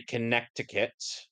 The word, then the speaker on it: Connecticut: Stiller is from Connecticut because he pronounces the state's name wrong. Okay. It's supposed to be Connecticut. It's the accent.